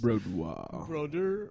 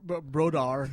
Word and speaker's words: Brodeur: You said his name wrong twice. That was hilarious. Brodeur. Brodar, and then Brodeur.